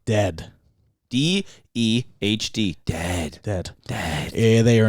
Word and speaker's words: Dehd: It is spelled D-E-H-D. Dehd.